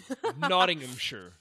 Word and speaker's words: Nottinghamshire: Well, it's because you're making it too many syllables. That's why I said Nomshire. Yeah, it's Nottinghamshire.